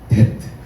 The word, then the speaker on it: debt: debt 맞나요? 발음이? debt. B가 묵음이고, 그리고 마땅히 해야 하는 것을 말할 때 우리가 duty라고 말하죠.